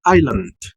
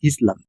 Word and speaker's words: island: Tenemos la palabra isle en italiano, tenemos la palabra isla en español, tenemos la palabra en inglés island, ¿no? Recuerden, no es Island, es Island.